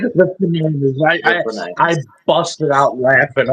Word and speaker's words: 49ers: to point out that that AI generated thing pronounced 49ers of the F9ers. The 49ers. I I literally like Jake had asked me about it and I said, "It's exactly what you think."